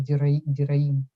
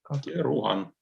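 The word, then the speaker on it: Deroin: Как правильно-то произносить, Леша, фамилию-то Дераин? Деруан. Деруан, да? Бертран Деруан, да? Спасибо. Да, все правильно.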